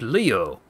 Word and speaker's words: Leo: glor glorious most venerable Leo a aoi it's written with the kanji for lion but to be sure but it is pronounced Leo I wager you're impressed